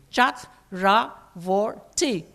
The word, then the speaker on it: Chakravorty: my middle name pronounce it syllabic le Chat rah forty easy as pie the because they had